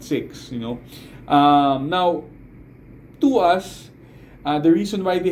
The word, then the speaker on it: TWS: 24/7 with us and which became twws and which pronounces to us now um there uh